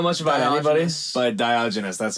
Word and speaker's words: Diogenes: but Diogenes, that's how you say it.